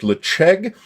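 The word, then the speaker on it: Ledaig: I am told it is correctly pronounced Lecheg. There's a knowledgeable person on YouTube and I have confirmed that information.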